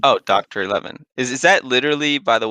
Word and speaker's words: DoctorXI: It's Roman numerals, so 11 Okay. technically. Oh, Doctor 11.